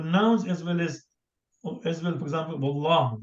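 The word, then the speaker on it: والله: But before Allah, if there is waw, we say wallah. We don't say Allah.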